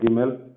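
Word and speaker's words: ג: See, even Gimel, sometimes there will be some dots, okay? But that doesn't change the pronunciation.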